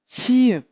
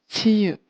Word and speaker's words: 치읓: This one is called 치읓, 치읓, and it has a ch sound.